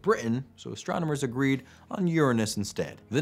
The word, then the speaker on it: Uranus: the way right now the planet Uranus generally pronounced Uranus in scientific circles really got the short